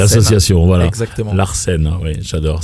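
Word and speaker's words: L'Artscène: Enfin, l'association Larsen. L'association, voilà. Exactement. Larsen, oui, j'adore. Ça s'écrit l'apostrophe. ARTSCENE Voilà, comme l'art c'est ça, et la scène.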